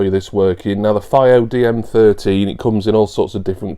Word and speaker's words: FiiO: Now, this is one of the components for my upcoming new, although it's really old, replacement hi-fi. It is the Fio, I think it's pronounced Fio rather than FO.